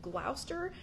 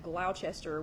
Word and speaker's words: Gloucester: Sarah and is it Gloucester I'm really trying to I'm really trying to learn how to say that Gloucester because here in Tennessee we pronounce that Gloucester which I understand is not correct anyway so welcome welcome